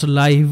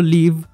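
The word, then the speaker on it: live: করা হচ্ছে তো এক্ষেত্রে প্রথম সেন্টেন্সে এল আই ভি হলো লিভ কারণ এখানে এটার অর্থ বাস করা আর দ্বিতীয় সেন্টেন্সে এল আই ভি হলো লাইভ কারণ এখানে এটার অর্থ সরাসরি সম্প্রচার নেক্সট ওয়ার্ড ক্লোজ সি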